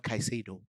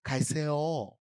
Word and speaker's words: Caicedo: It's not Caicedo. Caicedo.